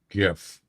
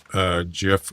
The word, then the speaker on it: GIF: I pronounce GIF with a G. Yeah, that's not how it's pronounced.